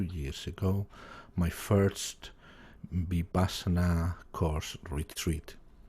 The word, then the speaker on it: Vipassana: So you start to get into meditation, and then in 2019, I want to say it correctly, Vipassana. Thank you. Vipassana.